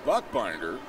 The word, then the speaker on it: Buchbinder: And Springfield Cardinals radio announcer is Buchbinder. That is B-U-C-H. But it's called Buck. Buchbinder. But